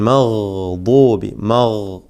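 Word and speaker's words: المغضوب: Gain ഗൈരി അൽ മഗ്ദൂബി മഗ്ദൂബി.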